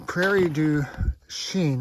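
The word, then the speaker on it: Prairie du Chien: the river um in Prairie Du Sheen that's how you pronounce it PR Deen let's see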